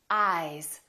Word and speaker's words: eyes: Ice, eyes. Listen to the difference. Ice, eyes. This S is actually pronounced as a Z sound.